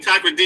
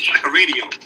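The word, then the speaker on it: Takoradi: Takra D is the one that blew me off. I was like, how do you say Takra D? That was Taka Radio.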